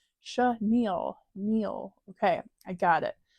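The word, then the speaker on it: chenille: last video or one of my videos I pronounced Chanel wrong which is the fabric um it's pronounced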